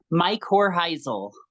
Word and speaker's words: Mycorrhizal: I think I'm pronouncing that correctly. Mycorrhizal.